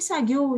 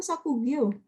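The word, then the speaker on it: 作業: Issho ni sagyou shite. Ini bacanya sagyo atau sakugyo? Do desu ka? Sagyo. Betul sagyo? Betul ya.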